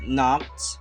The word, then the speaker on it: knock: you can see there's we have four silence letters that we have the first is no the second is knock and the third is knee and the last is kneading and the second example